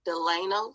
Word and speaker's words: Delano: for them right so carolyn harris became carolyn delano am i pronouncing it correctly yes yep when did you